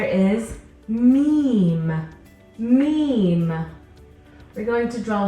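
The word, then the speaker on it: م: then a line meme the letter me makes a sound this is similar to your m in English our next letter is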